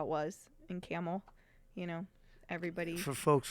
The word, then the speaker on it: Campbell: not from Youngstown right it's not spelled like a camel Campbell soup but omit the P and the B it's camel yeah you watch anything